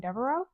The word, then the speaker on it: Devereaux: Dero.